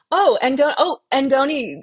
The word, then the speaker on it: Ngoni: Um, Ngoni, I am pronouncing it correctly.